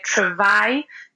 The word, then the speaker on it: travail: For example, people would say travail, and they go tr instead of tra, let's say.